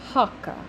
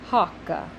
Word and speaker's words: hoc: to say this is hakka hakka it's actually spelled hoc but it's kind of pronounced with a little uh at the end hakka so he was saying